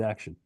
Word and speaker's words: action: How do you think you pronounce the ION in action? Un? And even less stress. Mm. Action. It turns out The I isn't writing any pronunciation. The O is writing the schwa.